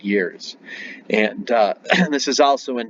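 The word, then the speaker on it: gēr: So the Germanic and the Scandinavian year. The Old Saxon word for year is spelled G-E-R, but it's pronounced year.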